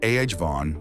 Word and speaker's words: Avon: Pro tip, it's avon with a gentle nod to the first syllable.